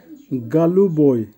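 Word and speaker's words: голубой: সিনি, সিনির অর্থ হবে নীল, উচ্চারণ হবে সিনি। আবার বলছি সিনি। গালুবই, গালুবইয়ের অর্থ হবে হালকা নীল বা আকাশী নীল, উচ্চারণ হবে গালুবই।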